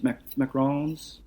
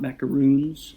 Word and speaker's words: macaron: we made some macrons macarons not macaroons as most people pronounce it wrong this little delicious french